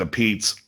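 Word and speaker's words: Apizza: It's a pizza is one word, and they pronounce it a Pete's.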